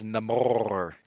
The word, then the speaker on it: Namor: It's Namor. You got to roll the R.